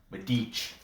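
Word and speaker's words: Medić: If you're from Serbia, you have to, the C is pronounced with like a ch. Medic. It's not medic.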